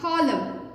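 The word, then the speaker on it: column: कॉलम, एम के बाद एन आ रहा है, इसीलिए ये साइलेंट हो जाएगा एन।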